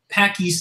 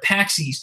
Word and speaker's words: PAX East: PAC East is like a big game, or PAX East. I keep saying it wrong.